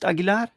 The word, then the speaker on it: Aguilar: featuring the lovely heroine Alina Aguilar did you pronounce it agilar yep MH right you have 22 backers excellent